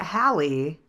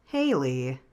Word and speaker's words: Hallie: So Hallie, not Haley, which makes sense because her name is spelled with two L's. but my brain did not recognize the second L.